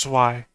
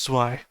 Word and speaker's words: Zwei: Zwei, by the way. Okay, Zweiwing. You said Zwei. It's German for two. The German word for two is Zwei. Ein, zwei, drei. It's Zwei.